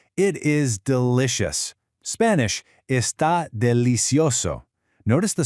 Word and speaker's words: delicioso: Spanish, está delicioso. Notice the soft C pronunciation in delicioso. It sounds just like an S.